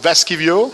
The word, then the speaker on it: Vaskivuo: En compagnie alors d'un joueur vraiment que j'avais envie d'interviewer, Vaskivuo. It's pronounced okay.